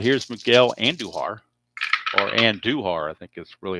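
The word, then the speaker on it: Andújar: Uh and Duhar. A little emphasis on the U there.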